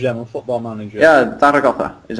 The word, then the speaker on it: Zaragoza: Yeah, Zaragoza is how you pronounce it. You pronounce it Zaragoza.